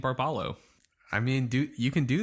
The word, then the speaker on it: Barbalho: I think that's actually probably pronounced Barbalho. Sure. I did 2 weeks of learning Portuguese using that little app with a little owl. Duolingo? Yeah. I think that H is pronounced as a Y.